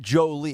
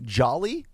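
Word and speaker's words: Joly: is spelled j-o-l-y but it's not Jolie it's not Angelina Jolie it's Melanie Jolly j-o-l-y she's The Runaway favorite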